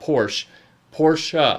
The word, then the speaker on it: Porsche: to germans saying specifically this is how you pronounce this name and it's porsche it's not it's two syllables it's not one it's not porsche porsha i feel like there